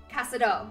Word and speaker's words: Casado: Okay, Casado, all right, accent in the last syllable, thank you.